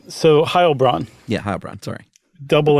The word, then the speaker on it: Heilbronn: the Phantom of uh Ohio sorry is it Heil it is I just goofed in German you do the second uh syllable okay for an e i okay so Ohio Braun yeah hi Brian sorry